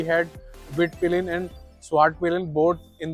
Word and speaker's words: Svartpilen: And this particular variant is pronounce as स्वाट पिलिन 401, और इसकी एक विट पिलिन भी बाइक आती है, वो 250cc कैटेगरी में आती है।